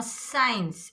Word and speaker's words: science: Now science, S-I-E-N-C-E. Science. After S you have C here. That's why it will become silent.